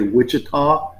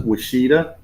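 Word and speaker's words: Ouachita: Some people would say Wichita, but they pronounce it Washita.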